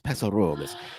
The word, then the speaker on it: Paso Robles: So you got to say it like the locals, Paso Robles.